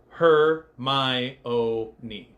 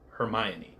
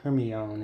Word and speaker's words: Hermione: fabled line that told everybody how to actually pronounce her name her my oi hermion so this is the line everybody points to